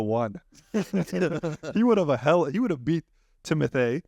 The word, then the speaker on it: Timothée: He would have beat Timothée. That's how you say his name, by the way.